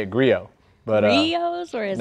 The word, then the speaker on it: Griot: We had a quick question about griots. How do you pronounce griots, Sam? It's a great question. Long debated. Griots. Griot. Griot. Griot. It is French. Griot's garage. Unfortunately. Silent T.